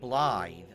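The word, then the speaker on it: Blaidd: Blade is pronounced Blythe.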